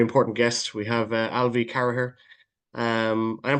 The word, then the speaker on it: Carragher: We have Alvie Caraher. Um I am pronouncing that right? Caraher. Caraher.